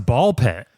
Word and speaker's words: Ball x Pit: I'm playing some ball pit. Ball pit, which if anyone is trying to search for this game, it is spelled ball x pit, right? But the X is silent.